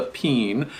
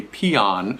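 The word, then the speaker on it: pean: cine is slightly larger on the East Coast east of the Mississippi we usually pronounce this pen P aan that's how it spell it's sort of like a bean like a can of beans okay this is a peen now on the West Coast or West of the mississipp Mississippi they'll often pronounce this a peon so you might hear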